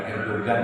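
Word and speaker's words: Erdoğan: Erdogan, bukan Erdogan ya. Kalau orang Turki menyebutnya Erdogan, karena Erdogan itu masih setetangganya Erdogan. Erdogan, kan?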